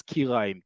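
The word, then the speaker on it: כרעיים: Kirayim is a stovetop. The way many people pronounce um, certain parts of, let's say, chicken, like chicken legs and thighs, as kiraim. Kiraim, when it comes to chicken, is kuf resh ain. This is kuf yud resh.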